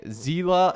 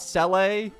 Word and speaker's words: Seele: this character's name wrong I'm aware that you say zela and not C to be honest it's